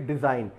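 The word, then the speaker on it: design: ये भी डिज़ाइन, यहाँ एस का भी उच्चारण मैं बताना चाहूँगा कि जा से उच्चारण इसका किया जाता है।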